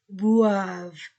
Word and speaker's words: boivent: des clients, E-N-T-S-N, clients boivent. Terminaison ne se prononce pas du verbe.